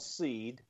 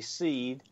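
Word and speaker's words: Seeed: Pi you can go to a company called seed and that's spelled s with three E and A D seed and look at their Grove grve sensors and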